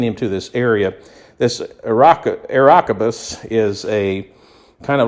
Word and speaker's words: Areopagus: So what they did is they took him and brought him to a meeting of the Areopagus, that's how you say it, the Areopagus, where they said to him, "May we know what this new teaching is that you are presenting."